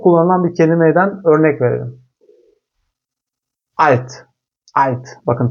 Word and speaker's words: Alt: Almancada L harfi yüksek Almancada her zaman ince L ile telaffuz edilir. Mesela çok kritik, çok kullanılan bir kelimeden örnek verelim. Alt.